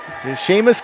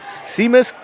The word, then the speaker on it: Seamus: Ku kluck oh yep Sheamus KU kluck and so it looks like Seamus s-e-a-m-u-s so they pronounced his first name and last name wrong all day today see Miss and then KU kluck